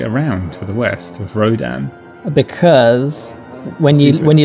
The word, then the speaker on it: Rodan: in Japan so it's he's called rodon said it wrong he's called Rodan now so I like the